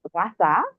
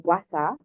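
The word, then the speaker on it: Gua sha: me tell you what Gua is so I pronounce it the correct way it's guasa or guasa it means scrape Gua is scrape and sa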